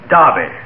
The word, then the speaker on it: derby: could they be the derby's only run in the spring so if the derby is running the winter there isn't any darby that is some people use the english pronunciation for derby darby since when did they